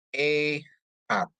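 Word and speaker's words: אחד: Untuk Alef dikasih segol, dia bacanya E. Het dikasih kamat, bacanya K. Sama Dalet ya. Jadi bacanya jadi E-hat ya.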